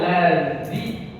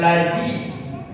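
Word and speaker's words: الذين: tidak dari tempat keluarnya yang benar allziwiu alli alli allzi bukan lazi ya itu berarti tidak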